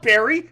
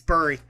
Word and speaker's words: bury: this whole time alex it's not barry it's berry you know what's [